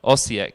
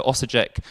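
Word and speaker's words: Osijek: pronounce like rieka biehlovar ossiak yeah i think of a j in english it said jer so osajek bajalavar and rejecter as well as other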